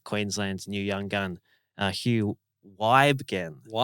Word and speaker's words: Wygen: new young gun Hugh Wygen. Wen. I was calling him Webin but uh I just had it corrected Wygen.